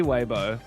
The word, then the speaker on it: Weibo: I'm kind of like trolling now because it's definitely Weibo.